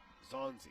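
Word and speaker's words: Xayaseng: Here's Kaylin Zongzi. Kalen Zonzi. What do you hear how this one's spelled? First pitch. Shows a bunt, takes a strike. X-A-Y-A-S-E-N-G. That's Kalen Zonzi.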